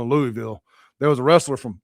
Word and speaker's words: Louisville: There was a wrestler from Louisville, Mississippi, but I don't know how to say Louisville. That ain't how I say. I say Right. Louisville. No, other way around. I say Louisville because Louisville, Kentucky. Right. And I kept introducing him from Louisville, and he's like, "It's Louisville." I'm like, "It's French. It's Louisville."